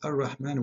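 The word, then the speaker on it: الرحمن: It is Ar-Rahman with alif, not without alif.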